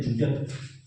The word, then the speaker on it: Zwitter: जूटर आप लोग क्या पढ़ते हो इसको? पढ़िए। लेकिन हम प्रोनाउंसिएशन करते हैं जूटर।